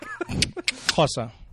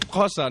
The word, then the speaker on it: Xhosa: Xhosa.